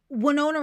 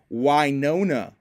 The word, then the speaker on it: Winona Ryder: try this all together wona that sounds so I've definitely been saying it wrong it's Winona Rider what wona Winona wona